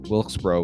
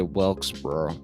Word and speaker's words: North Wilkesboro: pronounce it but north wilkesboro will say i think that's it wilkes bro i always want to say welksboro but it's wilkesboro i believe and um yeah i